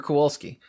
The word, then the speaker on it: Kowalski: Okay, so my brain says to pronounce that Gregor Kowalski, but there's a Z there and a Z there. Yeah. Just constantly make a Z noise while saying Gregor. So Mr. Kowalski is also playing Marvel.